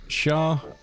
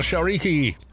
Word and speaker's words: Shariki: Carlos, pronounce it Shariki. Shariki. Is that right? Shariki? Yeah, you got it. Oh, Shariki!